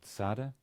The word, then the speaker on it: Tzade: Just like this, the next letter, which is called Tzade, and in modern Israel it's pronounced as a TS, tz. Originally it was more like a th, what we call an emphatic S, but for you simply use the TS, that's fine.